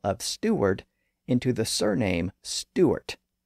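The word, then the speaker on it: Stuart: arrived in Paris she found that most people pronounced her surname Stewart without the W sound in the middle so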